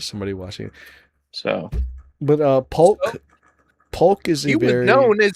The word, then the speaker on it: Polk: It's Polk. It's a P. It was supposed to be a P. You just fucking trolled the shit out of me, bro. How dare you? I just pronounced that Folk in front of the 2 viewers we have.